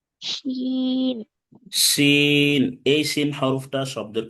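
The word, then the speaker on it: ش: শিন। শিন। এই শিন হরফটা শব্দের কোথায় আসবে? মাঝখানে। মাঝে আসবে। শিন উচ্চারণ করতে হবে শাসা আওয়াজে।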